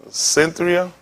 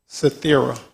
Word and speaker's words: Cythera: Cynthia? Is that Cynthia? Is that how you pronounce it? Cythera. Cythera? Okay.